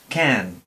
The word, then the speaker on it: can: Por ejemplo, can, can. Esta K tiene, después de articular la boca para pronunciar la K, tiene inmediatamente una pequeña expulsión de aire.